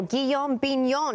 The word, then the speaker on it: Guillaume Bignon: Well, Guillaume Bignon, did I say it right?